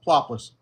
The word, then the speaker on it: Ploplis: Am I pronouncing your name properly? Yeah. Plopless.